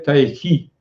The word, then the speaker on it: Tai Chi: Mais actuellement, on a tendance à prononcer Tai Chi, c'est-à-dire pas Ki avec le K, mais Tai Chi.